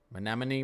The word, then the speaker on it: Menominee: So you guys told me how to pronounce this earlier. Menominee, we're just going to say that.